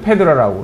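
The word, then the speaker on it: Phaedra: 그러니까 이제 이제 어머니가 아들을 사랑하는 그래서 파이드라를 영어식 발음으로 이제 페드라라고 그러는 건데 이제 개모건 아니면 뭐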